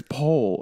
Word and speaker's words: poll: but oh my god that's how you pronounce pull this crazy it's pole okay anyway yes so